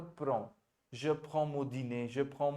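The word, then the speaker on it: prennent: Spelling तो ये लिखी है आपने, Pren. P-R-E-N-N-E-N-T. अब प्रोनाउंसिएशन क्या होगा Prenen. इसका वैभव? PRAN, Prenan. PRAN, PRAN, Pren. PRAN. या इट्स not Pranay, it is PRAN, right.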